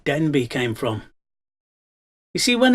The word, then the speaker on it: Denbigh: So if you read Denbigh now, D-E-N-B-I-G-H, which in those days sounded like ch, you will see that Denbigh, pronounced the way they would have spoken it in those days, would have sounded like Denbych, which is not a